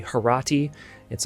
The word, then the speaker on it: Horatii: Now, some call this painting the Oath of the Horatii. I have heard that pronunciation in American English. That's fine. I believe the original would be Horati. It's also said Horatii. So you can pick whichever one you like.